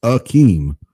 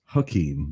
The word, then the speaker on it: Hakeem: They didn't have the H. It just says Akeem. It's like it's Hakeem, but Hakeem.